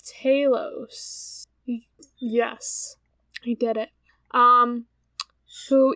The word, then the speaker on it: Talos: is it Talos or is it Talos? I don't know. How do you pronounce fucking Greek names? I was going Talos, but I'm most likely wrong. It's Talos.